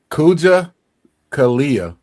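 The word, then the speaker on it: Kujichagulia: How did you pronounce that? Kuma It's Kuja Kalia. Kuja Kalia.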